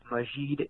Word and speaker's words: Majeed: joe is absolutely correct the name was westernized at ellis island and majid is the correct pronunciation so congrats joe you